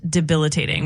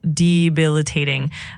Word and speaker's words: debilitating: You're ab it's pronounced debilitating with the emphasis on the second syllable. So, it's debilitating.